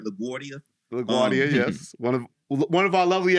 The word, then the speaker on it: LaGuardia: LaGuardia, yes.